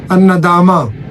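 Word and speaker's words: الندامة: अन नदामा, हालांकि एंड पे ता भी है लेकिन ता प्रोनाउंस नहीं होगा।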